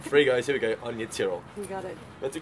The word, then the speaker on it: Aine Tyrrell: We are at the Geelong Waterfront Skate Park and I'm joined by Anya Tyrrell. How you doing? Well done. I pronounced it correctly. You did really well.